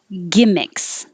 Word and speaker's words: gimmicks: Up here at the top, gimmicks. Gimmicks. The vowel is I, so not too high, E, but I.